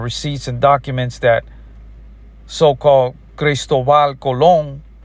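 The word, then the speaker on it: Cristóbal Colón: Because we do understand we got history books, we got receipts and documents that so-cal Christoval cologne which is that's how you pronounce it in Spanishal cologne got here in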